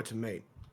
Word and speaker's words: Tiamat: Because you see, that temple isn't for to mate. Yes, it is. That's for Tiamat. It's pronounced tomate, but the confusion is understandable.